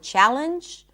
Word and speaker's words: challenge: Sometimes you will see NG in the spelling, but it's not going to be pronounced as an NG at all. And it's usually when there is a silent E at the end, like in the word challenge or danger or ginger.